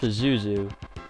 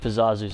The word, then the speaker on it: Pazuzu: pizzazz pizoozu's tower and i've said it for zazu for so many years and it's actually pronounced pazuzu i just think pizzazzu sounds better in my own opinion am i gonna reach